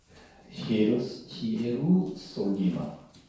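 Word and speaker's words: Ἱεροσόλυμα: 히에루솔리마 스트록 넘버 2414번입니다. 이렇게 이래야 이제 시옷 발음이라고 합니다.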